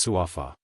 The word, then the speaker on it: Sappa: with him, but the female assassin Sappa, which is pronounced as Sufa.